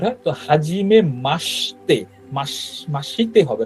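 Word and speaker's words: はじめまして: তে হবে হ্যা অর্থাৎ হাজিমে মাসতে অর্থাৎ জাপানি ভাষায় কিছু শব্দের ইউটা সাইলেন্ট হয় আবার আরেকটা আছে ওটা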